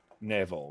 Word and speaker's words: Knievel: sue over duke kaboom do you think it was meant to be pronounced knievel it was definitely meant to be pronounced neville right or something like that um evil evil's not